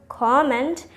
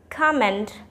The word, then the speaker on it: comment: I have listened so many people pronouncing the word comment as comment, but it is wrong. It's comment.